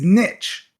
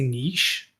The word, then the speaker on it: niche: So we looked it up, and the proper way to say it is niche. How weird. Now, that's for dawn of time. Like recently, like 2010s or something, it started to gain traction to say niche, but it's seen as